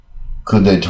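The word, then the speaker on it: coup d'état: 是妙计啊，coup d'état 啊，这是也是发音过来啊，重音在后面，因为这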